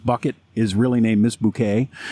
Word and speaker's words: Bucket: is really named miss bouquet she calls herself bouquet but it's spelled bucket i mean i do